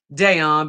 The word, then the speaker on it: Dayon: It's Dayon, pronounced Dayon by my mama.